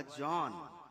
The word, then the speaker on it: Zen: वहां से जब ये कोरिया पहुंचा तो वहां इसका उच्चारण हुआ जॉन, सॉन जॉन, सियोन.